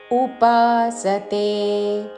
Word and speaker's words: ఉపాసతే: ధ్యాయంత ధ్యాయంత ఉపాసతే ఉపాసతే ఉపాసతే అని ఊతో పలకకూడదు.